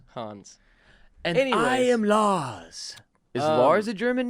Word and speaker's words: Lars: It's Swedish and Danish in its pronunciation. Yes. Lars.